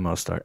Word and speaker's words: Mostert: And they still got, was it Raheem Mostert? Is that how you say it? Yeah, Raheem Mostert.